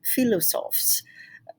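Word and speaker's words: philosophes: french i'm going to try my best french pronunciation philosophs um e the philosophs i like saying that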